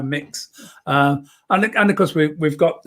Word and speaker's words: Mx: you do immediately when how do you pronounce MX? It's one of the questions I'm constantly asked, because I use the title MX very often now, mix, and of course we've